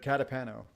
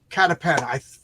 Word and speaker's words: Catapano: Catapano. Catapano.